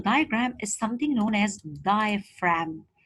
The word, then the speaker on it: diaphragm: is something known as diaphragm remember that the G is silent and the pH is